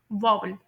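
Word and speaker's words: vowel: तो मैं आप लोगों को यह बात बता दूं कि अमेरिकन एंड ब्रिटिश इंग्लिश में इसे वोवेल सॉरी वोवेल पढ़ते होते हैं। इसे वोवेल या फिर वोवेल ऐसे नहीं पढ़ते। इसमें लॉन्ग आ की साउंड आ रही होती है।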